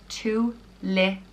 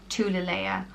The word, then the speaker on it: Tuilelaith: The next name is very similar to Tuilelaith, and it's Tuilelaith, and it means princess of abundance, and it is pronounced Tuilelaith, Tuilelaith, or it can be pronounced Tuilelaith, and I think again depending on where in Ireland you are.